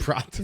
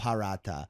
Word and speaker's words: paratha: It's like an Indian thing, or like it's just like Prata. that's why Zane laughed right away. But prata is the Singaporean pronunciation of it. So like in like India they would call it paratha, or I don't know